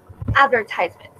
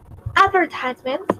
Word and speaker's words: advertisement: Hay dos maneras de pronunciar esa palabra. Podemos decir advertisement, como en la manera American, o podemos decir advertisements, que es la manera más British, más británica de pronunciar.